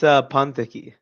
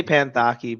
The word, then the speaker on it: Panthaki: It's Pantaki. I'm happy I asked. Actually, yeah, Okay. I say Panthaki because it's simpler, but that's how it's pronounced.